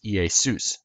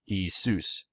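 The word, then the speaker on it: Ἰησοῦς: In Greek, Jesus is pronounced Iesus, or in modern Greek, Iesus, and Zeus is pronounced Zeus.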